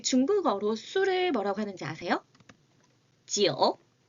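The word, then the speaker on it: 酒: 지오. 지오. 우리 한국이랑 똑같이 술 주자를 한자로 사용을 하고요. 숫자 9와 발음이 똑같습니다. 지오.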